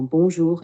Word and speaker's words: bonjour: Juste une petite remarque, fais attention au son R dans bonjour et en qui doit être bien roulé mais pas trop fort.